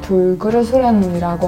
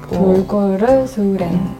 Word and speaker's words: 돌고르수렌: 우리 교수님들이 저를 돌그르수렌이라고 하는데 돌고르수렌. 네. 돌고래처럼.